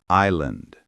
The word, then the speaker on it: island: Island. Many learners pronounce the S, but it's silent.